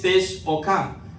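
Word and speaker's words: תשוקה: Es la palabra en hebreo que se escribe T-S-U-Q-A. La pronunciación es Tesh-O-K, que significa anhelo, deseo, dominio.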